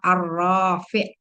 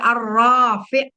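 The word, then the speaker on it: الرافع: Tapi ada arroi atau arrofi. Ah, harus pilih salah satu madnya di mana. Kalau arrofi berarti enggak pakai mad yang ainnya ya fanya. Arrio atau arrofi. Nah, itu ya beda ya bacanya.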